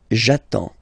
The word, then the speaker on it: j'attends: So the first form will be j'attends. J'attends. Okay, you get D and S. Well, basically you don't pronounce them.